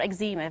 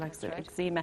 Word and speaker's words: eczema: going to talk about Eczema for children or exema various people pronounce it Xmen people ezema for children and for